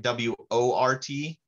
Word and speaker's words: wort: beer it's called worked spelled like w-o-r-t but pronounced like that rhymes with dirt um wort is beer